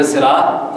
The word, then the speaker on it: الصراط: سین لکھا ہے کیونکہ ہم سین پڑھتے ہیں غلط، اہدنا الصراط المستقیم، یہ تلفظ عموماً سواد پڑھیں گے تو سواد یہاں پڑھیں گے، پڑھیں گے تو سواد لکھا جائے گا نا، تا کو تو